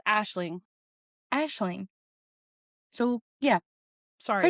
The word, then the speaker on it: Aisling: Ailing. I think it's Ailing. Yes, so I can't pronounce English words, let alone any other nation's words. So, The Compound by Layne Rawle, and I stand corrected, it's Aisling.